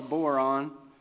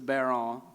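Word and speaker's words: bodhrán: Dad's got this Irish drum called the, I call it a boron, but it's a baron.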